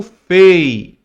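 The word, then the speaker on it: פ: O P e sem o ponto você lê como Fei.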